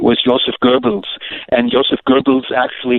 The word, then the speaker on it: Goebbels: and Joseph Goebbels actually his name should be pronounced Goebbels not gurgel Joseph al Sharpton pronounces his name is gurgle in other words and you think of somebody with something in the back of their mouth kind of gargling a